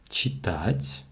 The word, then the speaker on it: читать: читать, прочитывать, прочитать, дочитывать, дочитать, почитывать, почитать. Читать, to read, imperfective. The stress is on the second syllable, and this verb is conjugated like a regular verb, the first conjugation.